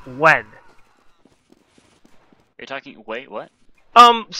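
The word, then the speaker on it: Nguyen: that but it's pronounced when you're talking wait what um there's I forget there's a last name an Asian last name that's spelled n g u ye n but it's pronounced when like when and it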